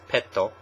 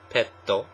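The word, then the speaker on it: ペット: know pet animal um Japanese pronounced pet as petto petto and our final one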